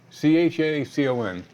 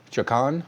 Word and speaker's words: Chacon: Well, so why don't you spell it? C-H-A-C-O-N. Chacon?